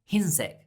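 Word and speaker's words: 흰색: do you say white what was white the insects so white in korean is hinseek now let's do brown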